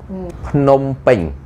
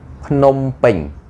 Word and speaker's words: Phnom Penh: So today Bong Dara will help you to pronounce the province in the correct way. Let's start. Okay, let's start together. Phnom Penh. Phnom Penh.